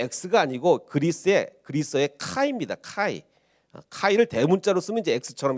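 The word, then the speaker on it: chi: 이제 잘못 읽게 되면 아 px구나 px라고는 잘못인데 PX 이제 군대에서 매점이 이제 px고요 px가 아닙니다 전혀 다른 표시인데 아 이게 뭐라고 읽어야 되냐면요 이게 그 헬라어입니다 그리스어인데 이게 대문자로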